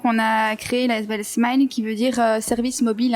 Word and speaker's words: SMI-LE: Smile, vous prononcez Smile, d'accord.